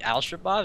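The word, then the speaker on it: Al-Shabaab: by ALS shabab I ALS shabab is how you pronounce it alsab Kebab God damn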